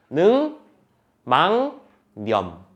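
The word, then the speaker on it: 늑막염: 어떻게 발음 돼야 돼 이거 능이라고 면 틀린 거잖아 지금 이건 능 망념 바로 따라가죠 능망념이라고 발음해야 돼 왜 그런지 결쳐 볼까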